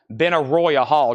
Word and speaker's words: Benaroya Hall: Benaroya Hall, just like it's spelled, Benaroya Hall.